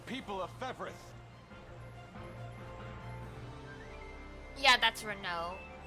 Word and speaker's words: Renault: ends in uh UL it's usually French and it's pronounced like an o sound so there's Lego l